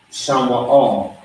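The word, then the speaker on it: שמע: Shama is how you say the word.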